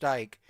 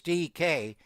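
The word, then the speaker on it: Dike: And the Niners did cut Gay yesterday to bring your guy Eddie money back, but it's not pronounced dyke. It is like metaf. It is DK and they got some youth on that wide receiver room.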